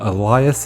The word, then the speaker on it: Elias: Seems that there are multiple ways to pronounce it, but Elias is the most common.